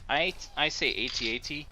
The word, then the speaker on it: AT-AT: It's funny, some people, like, I say AT-AT simply because if you say at, like whenever you try to do the scout one, it's ATST. So how do you say atst? I mean, like, it just doesn't sound right.